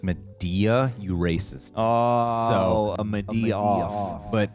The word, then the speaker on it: Madea: totally step in a m off M off it's actually pronounced media you racist a off